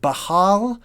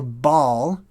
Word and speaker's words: Baal: that one's highlighted so we've got Baha or Baal which is sort of how it's pronounced in modern day and then you see